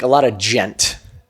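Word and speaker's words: djent: And like a lot of gent, D-J-E-N-T, gent.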